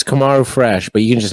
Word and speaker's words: Komarufresh: are you guys talking about how do you pronounce it uh it's kamaru fresh but you can just say fresh french and